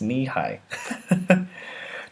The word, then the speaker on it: Nehi: thing ever knee-high Roo oh it's nehi Roo it's pronounced knee-high do I go to any